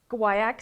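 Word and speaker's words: guaiac: guayak sounds like kayak guayak sounds like kayak okay so I don't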